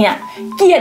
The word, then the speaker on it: เกลียด: คำ ว่า เกลียด เนี่ย เกลียด เนี่ย ยาก จริง ๆ เกลียด เพราะ ว่า ภาษา ไทย อ่ะ มัน ต้อง เชื่อม เสียง เลย นะ แบบ เกลียด อ่ะ กี่